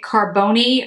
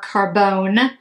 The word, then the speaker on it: Carbone: So this is Blue, now I don't know if they're pronouncing it Carbone or Carbone or Carbon, but it's C-A-R-B-O-N-E, and Blue is spelled B-L-E-U.